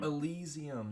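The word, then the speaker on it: Elysium: Allesium. that's how you pronounce it.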